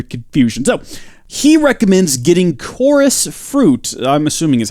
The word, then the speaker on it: Chorus: how you say that it looks like chorus right chores surely not I think it's one of those situations where the CH does not make a chest sound however I'm sure if